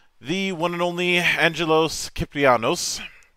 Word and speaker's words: Kyprianos: theater of Epic the one and only Angelos kyanos how you doing today man I'm fine how are you thanks for pronouncing my name right yes that's nice that's